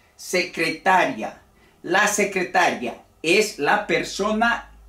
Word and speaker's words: secretaria: y cuándo es un hiato aquí hemos dicho secretaria la secretaria en un solo golpe la última sílaba una dos tres cuatro sílabas secretaria la secretaria es la persona que se ocupa